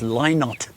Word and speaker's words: Lynott: And Philip Lynott said, by the way, it's Lynott. The rhymes with why not.